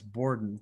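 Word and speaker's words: bourdon: I think it's Borden, but let's find out.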